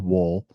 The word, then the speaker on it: Woll: Like like Dole bananas, Yep. like the fruit company. It's like that, but with a W, right?